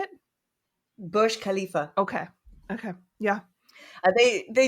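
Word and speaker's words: Burj Khalifa: khif yeah what how do you say it Bush Khalifa okay okay yeah they they do Pride themselves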